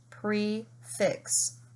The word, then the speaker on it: prix fixe: consonant at the end pre is open fix this closed prix fixe and then dough nut